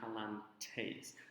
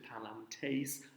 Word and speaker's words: palantes: So you might want to write an ES, a long E and then an S, just above the ending IS, so that you know this really would be palantes. So this is a participle